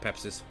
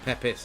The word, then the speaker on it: Pepis: Pepis, isn't not Pepsis. Because I was drinking Pepsi, I was thinking of Pepsi.